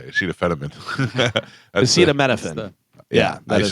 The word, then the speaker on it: acetaminophen: It's spelled ACETA. Acetaminophen. Acetaminophen. Acetaminophen. Acetaminophen. Yes. What did I say? Acetaminophen. That's Acetaminophen.